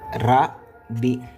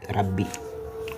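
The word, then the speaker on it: رَبِّ: Quand on va faire la lecture, on va pas dire rab, on va dérabber. Ça c'est la forme contractée. Ici on peut décontracter parce que cette lettre porte une chard. Donc on va faire comme ça. Rab B. J'ai mis égal. Donc c'est une équivalence. Donc en français vous allez faire comme ça. Vous allez mettre de B rab avant de mettre B I rabbi. OK Rabbi c'est la même chose.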